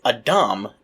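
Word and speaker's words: אדם: Now, in English, we tend to say Adam, but Adam is the Hebrew pronunciation, and it's not a proper name, at least not yet.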